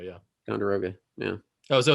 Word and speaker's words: Ticonderoga: I'm not sure if I'm pronouncing this right. Ticonderoga, New York. Ticonderoga, yeah. Ticonderoga, yeah.